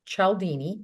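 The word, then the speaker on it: Cialdini: um he actually watched a podcast of Robert chalini that's how you say his name I met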